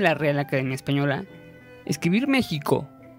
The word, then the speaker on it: México: En la voz náhuatl, para México, actualmente se escucha México, es decir, la X se pronunciaría como sh.